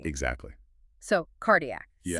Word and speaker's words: cardiac: So, cardiac. Yeah. C followed by A gives you a hard K, colon, gastric gonad.